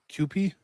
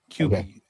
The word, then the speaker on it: Kewpie: It's k e w p i e. QP.